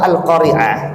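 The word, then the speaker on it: القارعة: mengatakan apa Iqra bismibbik q itu Hamzah di ujungnya itu bukan Ain Adapun surah alqariah itu Ain bukan Hamzah Dan kita pun harus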